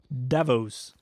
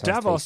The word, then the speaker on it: Davos: Davos is how they were pronouncing it. Davos.